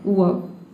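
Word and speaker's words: verb: यहां पे देखिए वी को हम व पढ़ रहे हैं और बी को ब पढ़े हैं। अ क्या हो गया? मान लीजिए कि आपका साइलेंट हो गया। ये हो जाएगा आपका वर्ब। इस तरह से इसका प्रंसिएशन बन गया वर्ब।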